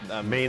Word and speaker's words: Maine: I thought the at the end was a syllable, but it's Maine.